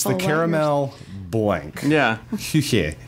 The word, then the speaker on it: Küche: Küche. Küche is the German word. It's kitchen. Okay. Just don't. Don't do it phonetically.